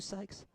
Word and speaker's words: Sykes: Are you psyched, Sykes? From Orange Grove. So Ben Campbell, Zane McQuillan, Adam Kane. No silent P on that.